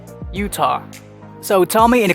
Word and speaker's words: Utah: center agent i had a very hard time pronouncing this one properly it's not utah it's utah utah so tell me in the comment section below